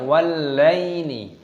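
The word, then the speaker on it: والليل: Ini ditasdid maka dibaca wallaili. Wallaili id adbar.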